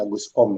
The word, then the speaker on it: Comte: Namanya Agus Comte. Tapi ya dibacanya Agus Kom ya.